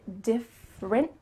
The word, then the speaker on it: different: Make sure that you say different and also that you emphasize those correct words.